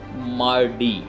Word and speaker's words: Mardi: तो वो जो थे वो बोलते थे मार्डी, MARDI, मार्डी।